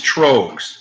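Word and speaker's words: Tröegs: You think it's pronounced? Troegs. Troegs. Not Strohs, Troegs.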